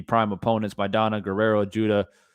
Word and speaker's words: Judah: opponents by donna guerrero judah judo or judah yeah i said it right the first time castillo floyd knew his